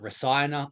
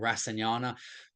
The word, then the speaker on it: rasayana: So Marma therapy is called a rasanyanic, so point 0.7, a rasayanic, or you can pronounce it rasayana or rasanyana, whatever you want.